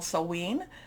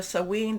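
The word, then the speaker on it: Samhain: also in what's called sewen there's different pronunciations i think i'm doing the scottish pronunciation of this but we can you know you know there's different celtic celtic type of pronunciations so sewing this is what a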